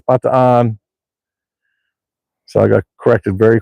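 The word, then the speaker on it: Bataan: trail and I said oh this is the batan death march Trail they're like the what I said the batan death march Trail no no it's not pronounced batan it's B on so I got corrected very quickly on that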